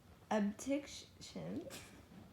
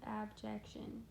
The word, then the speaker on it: abjection: She is known for her mortality, abdiction. Addiction? No. Oh. She is known for her mortality, abditions. No. How do you say it again? Abjection. Abjection. She is known for her mortality, abjection.